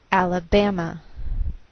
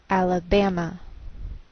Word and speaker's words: Alabama: So the greater stress is on this third syllable. We say Alabama, Alabama.